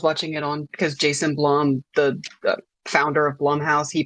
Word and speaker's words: Blum: I try to watch a few interviews, and presenters alternate between rhyming with plum and rhyming with plume. So it's fucking potato. But Blumhouse posted on Twitter back in 2012 saying it's Blum like plum.